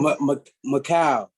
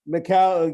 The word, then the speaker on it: Mikal: have to ask uh yeah coach campbell to pronunciation your first name i forgot to ask him macau macau yeah uh michael five letters five letters was